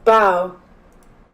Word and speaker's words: Boughs: i can spell that let's see how you pronounce the word ba or bao all right google here we go bow bow there you go mister the shadow bows